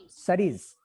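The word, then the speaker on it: cerise: Saris. C मत बोलो. E के ऊपर कुछ है नहीं. E को pronounce नहीं करना. Saris.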